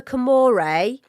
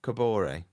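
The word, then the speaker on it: Kaboré: Uh, I want to write a chant for Camore. Is that how you say it? Am I saying it? Kabor.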